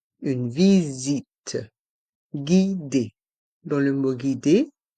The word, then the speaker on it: visite: une visite guidée ici dans le mot visite le S encore et entre les voyelles i donc se prononce ze une visite guidé dans le mot